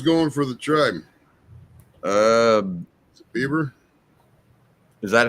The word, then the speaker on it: Bieber: ] Mountain who's going for the truck uh Bieber is that how you pronounce it yeah yeah okay Shane Bieber's actually